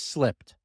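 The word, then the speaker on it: SLIPD: by using an acronym and that word is slipped a word very near and dear to all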